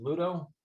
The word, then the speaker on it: Ludo: all the games um modern pluto is it pronounced is it ludo yep that's how i pronounce it yeah that's